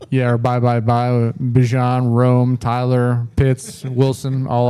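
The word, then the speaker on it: Bijan: Bjan, which it is Bjon. He came out recently on it. Yeah. He said everyone's been pronouncing. He said he's not mad at it, but you know, he gets Bejon a lot, but it's Bjon.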